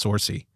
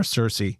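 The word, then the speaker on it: Saoirse: think it's sorcy or cersei cersei cersei monica jackson i'm gonna say and i apologize if i'm mispronouncing that it's irish clearly s-a-o-i-r-s so i think it's cersei uh but it's i'm probably wrong uh but she is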